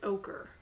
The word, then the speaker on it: ochre: brown that's just straight up brown it is pronounced ochre okay do you have to roll the r